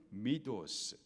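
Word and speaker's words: μῦθος: 두 가지입니다 첫째로는 신화에요 헬라 발음으로는 미도스 뜻은 비밀스럽게 전하는 이야기를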